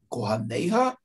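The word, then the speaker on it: כֹּהֲנֶיהָ: Буква Йод, которая здесь не произносится вслух, мы же её не читаем, верно?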